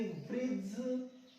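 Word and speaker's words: bridge: वाला पुल उसको कहेंगे ब्रिज, ब्रिज सीख लो। यहाँ डी साइलेंट हो जाएगा, जी से पहले आ रहा है डी, साइलेंट कर देंगे, नहीं पढ़ेंगे।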